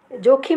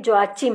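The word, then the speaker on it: Joachim: और ये जोखिम नहीं, जोआचिम है।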